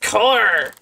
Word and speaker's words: cœur: Allô, mon cœur. Allô, mon cœur. People who definitely definitely doesn't have childhood trauma. Parents are supposed to take care of you. Yeah. It's pronounced core.